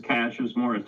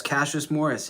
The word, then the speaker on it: Cassius Morris: Hey, this is Cashas Morris. Did I say that right? Am I saying your name right? Finally, somebody who can say it right. Yes, Cashas Morris indeed.